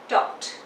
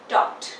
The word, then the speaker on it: talked: Example, टॉक, तो इसमें मैंने लगा दिया ईडी, TALKED, टॉक्ड. Okay, pronunciation पे ध्यान दीजिए, टॉक्ड नॉट टॉकेड.